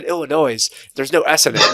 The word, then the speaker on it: Illinois: or Illinois's has or Illinois people sorry I pronounce the S last time and had people in